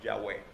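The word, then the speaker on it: Yahweh: sola palabra yo soy en hebreo es una palabra y se pronuncia y es bueno se produce más o menos yagüe jesús le dijo yo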